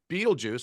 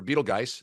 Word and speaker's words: Betelgeuse: And I don't know if you saw this, but so Betelgeuse, or Betelgeuse, as it's properly pronounced, is believed right